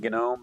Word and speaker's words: gnome: Normally you don't pronounce the G in gnome, but I want to make sure everybody understands it as a gnome.